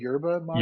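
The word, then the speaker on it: yerba mate: do is it your do you say it yurba mate or you do say you do pronounce the why the why correct okay gotcha okay see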